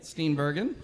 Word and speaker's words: Steenbergen: Steenbergen. I'm always wondering about those. About the pronunciations there.